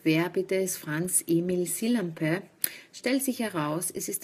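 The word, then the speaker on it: Sillanpää: bitte ist Franz Emil sillampe stellt sich heraus es ist der einzige finnische Literaturnobelpreisträger so spricht man seinen Namen wirklich aus montag den 23 mai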